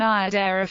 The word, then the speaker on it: Iadera: The accent was on the first syllable in both Iada and Iadera forms, which influenced the early